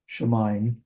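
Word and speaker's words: שמים: It's not ayim because the yod is over the herrick. The herrick does not precede it like a masculine total ending.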